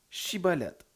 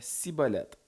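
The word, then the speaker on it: Schibboleth: Il lui disait alors « Eh bien, dis Chiboleth ». Il disait Cibolette, car il ne pouvait pas bien prononcer.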